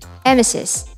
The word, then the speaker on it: emesis: pronounce this as evme emesis similar to how you'll pronounce nemesis coccyx the scientific term